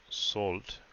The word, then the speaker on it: Soult: so the French are first and the problem salt I think I said it right one three